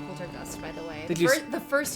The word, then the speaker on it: Poltergust: something like this you you did you miss pronounce something it's Poltergust Jason yeah it's a poltergeist did you say no it's a poltergeist it's